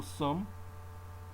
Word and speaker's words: sommes: Nous sommes, you drop the S again.